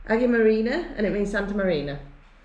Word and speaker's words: Αγία Μαρίνα: swimming pool um Jordan Jordan is produced it's pronounced Aggie Marina and it means Santa Marina ah good okay